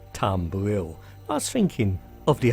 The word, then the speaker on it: Tumbril: vehicle and it's the cyclone manufact capured by tumbler well actually the name should be pronounced tumbril I was thinking of the old style tumble